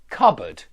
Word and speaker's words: cupboard: we looked at before, cupboard, that's got an unstressed schwa sound at the end, bud. And I think you can hear that cupboard, bud, sounds a lot like could, Good.